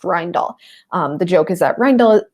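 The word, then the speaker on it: Rijndael: received 50 submissions and eventually accepted one that's pronounced rind all the joke is a triangle this word is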